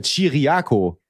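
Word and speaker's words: Ciriaco: Aber wie schreibt man Giraco? Naja, er ist ja Chiriaco.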